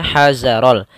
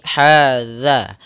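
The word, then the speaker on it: هذا: Hadzaral, hati-hati jangan membacanya hazarol, tapi hadza. Hadzaral.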